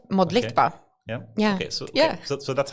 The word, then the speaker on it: Modlitba: The hard part is pronouncing it just the way it's spelled. Modba.